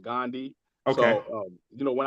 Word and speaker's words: Gun Dei: So, it's actually, yeah, it's spelled Gundi, but it's actually pronounced Gandhi.